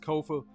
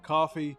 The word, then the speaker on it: Kofa: I'm your host, Kofa, Kofa, not coffee, not, not Kofi, or any variation thereof. Kofa rhymes with sofa.